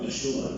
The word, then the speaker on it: Yeshua: sa pagkat pati pangalan ni Jesus dati yung pronunciation kasi ni Jesus sa Arabic parang yoshua no Yeshua pinalitan nila ng isa sapagkat sa pangalan di